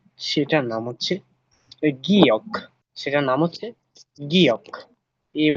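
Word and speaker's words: 기역: তো আজকের যে 14টি ব্যঞ্জন বর্ণ আছে ওইগুলো আমরা একদম সহজ এবং সুন্দরভাবে উচ্চারণ করে পড়ব। তো চলেন, শুরুতে যে বর্ণটা আছে সেটার নাম কি? সেটার নাম হচ্ছে গিয়ক।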